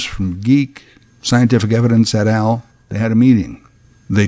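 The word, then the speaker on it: GEEC: so they founded geek G e e c but pronounced geek genealogists engineering and exploring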